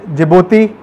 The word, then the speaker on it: Djibouti: So China's first overseas base is at Djibouti. This is how it is pronounced, and this is near the very famous Horn of Africa, where a lot of piracy happens.